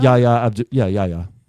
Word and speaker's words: Yahya: Yahya.